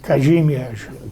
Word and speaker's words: Kazimierz: My guests today are Kaz, short for Kazimierz. Did I pronounce that correctly? Kazimierz.